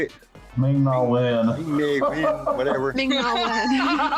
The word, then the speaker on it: Ming-Na Wen: There was an interview that was done with Ming-Na Wu, or however you say her name. How you say it? Ming-Na Wen.